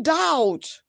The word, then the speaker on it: doubt: battle castle busy in doubt data busy in receipts Indian Peaks slots fixed what's what's kiss note letter B is silent in doubt and Delta while P